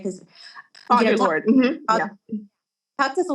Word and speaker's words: Audre Lorde: Did I pronounce her name right? Because Audre Lorde.